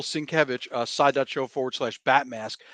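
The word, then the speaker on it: Sienkiewicz: jesse hit it boom let me say it right i'm gonna say it right this is batman tm unmask the truth are print by bill cinkevich not sinchevic that's my friend bill cinkevich side.show forward slash bat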